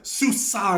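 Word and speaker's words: SUSE: It's phonetically pronounced differently than the way you spell it. Susa. It sounds like it's spelled like sushi. But you don't say it that way.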